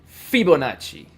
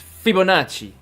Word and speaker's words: Fibonacci: his name was Fibonacci sorry I'm actually pronouncing that wrong it's probably Fibonacci right not Fibonacci it's Fibonacci cuz Italians always put the emphasis on the first syllable if I'm correct all right so I